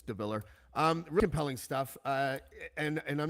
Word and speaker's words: DeVillaer: DeVallaer, which is spelled DeVillaer. Just make the A silent. It's DeVallaer.